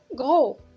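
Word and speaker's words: gros: غرو هنا اسم ميه ما كتنطقش، اللي هي سمين او لا كيف كنقولوا بالدارجه غليظ.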